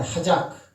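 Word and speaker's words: חזק: 하작. 뒤에 크자는 빼버리고 하자. 따라합시다. 하자. 하작 하면 하작. 큰은 이게 묵음될 수 있죠, 그죠? 하작. 뒤에 발음을 꽉 악센트를 줘버리면 키역이 붙어버리는 거야.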